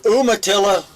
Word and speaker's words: Umatilla: Bobby said you as in why we. Yay, Bobby. Yes, if it's Umatilla, that's the way you got it there, but does it spell it?